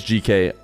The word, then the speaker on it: GK: They said Geek enough that I was like, I guess that's how you say it, and I switched. And then confirmed by their coach that it is GK.